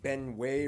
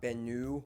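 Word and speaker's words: Benue: spelling errors for example it's ben way river not bennu but i mean come on it looks like bennu i accidentally said that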